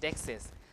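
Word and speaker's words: deixis: This is dexis, okay? This is pronounced dexis.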